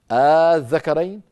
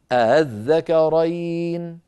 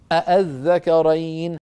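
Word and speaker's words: آلذَّكَرَيْنِ: الطريقة الأولى أبدلوها ألفا، الله، الذكرين، الآن. والطريقة الثانية التي كانت تفعلها بعض القبائل أنهم سهلوها يعني نطقوها مسهلة بين الهمزة المحققة وبين الألف، هكذا الذكرين، الآن، الله، ولم يقولوا أبدا الله، الذكرين، الآن، بهمزة صريحة نقية محققة، لم يفعلوا ذلك.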